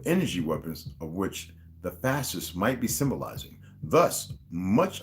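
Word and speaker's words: fasces: The two sides of the chair he sits on are a pair of fascists. Oh, it's F-A-S-C-E-S, not F-A-S-T-I-S-T-S, okay? So it's fascists, like I'm pronouncing it different, okay?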